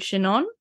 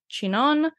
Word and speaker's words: Chinon: look for these subregions within Touraine, which include Chinon, Bourgogne, which doesn't look anything like how I'm saying it.